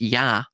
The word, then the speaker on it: Ea: And by the way, this will tie with EA which is en Sumerian it's enkadian it's EA which is pronounced Yah right hence Yahweh later on